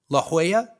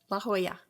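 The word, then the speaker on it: La Jolla: uh to be laa La Hoya La Hoya why don't they why don't they spell it like that uh I only know that because my dad lived there oh but why don't they spell it like that why is it j o l l a i guess it's probably Southern California so it's probably heavily influenced by espanol which makes a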